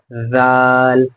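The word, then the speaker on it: ذال: ऐसा नहीं है, बल्कि सा और जाल, दरअसल बात यह है कि इन दोनों का मखरज बिल्कुल सेम है, यानी जहां से सा अदा होता है वहीं से जाल भी अदा होता है। सा, जाल।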